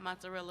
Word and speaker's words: mozzarella: i got chill bars it's called mozzarella not mozzarella like we butchered here in the states we're tearing it